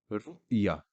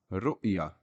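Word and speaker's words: رؤية: you will know that ta marbuta can be taken as a silent letter. That is why I am only pronouncing up to the ya with the fatha.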